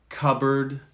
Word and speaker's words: cupboard: in red lamb climb notice you don't hear the p or the b cupboard photo receipt psychology and